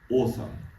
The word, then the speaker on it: OWSM: So we call our model Open Whisper Style Speech Model, OWSM, awesome. So please remember this one with pronunciation.